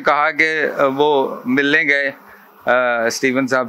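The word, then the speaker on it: Covey: और इसके जो मुसन्निफ़ हैं स्टीवन कवी, कोई कोवी प्रोनाउंस करता है, कभी प्रोनाउंस करता है, स्टीवन कोवी ज़्यादातर प्रोनाउंस करते हैं।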